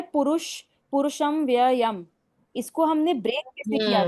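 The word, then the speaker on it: पुरुषमव्ययम्: Yes ma'am ma'am ये जो word है पुरुष पुरुषम व्ययम इसको हमने ब्रेक कैसे किया था?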